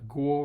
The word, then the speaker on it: Guo: Mei Fan Guo is the name you're looking for, so Guo rather than Ku, as they continually pronounce it.